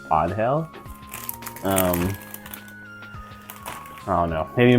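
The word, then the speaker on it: Ángel: pronounced her name as Angel before but there is an accent over the a from what I can notice so I believe it's onhell um I don't know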